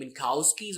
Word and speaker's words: Minkowski: you can spell it I usually prefer saying minkowski where the K is almost silent MOSI masasi you can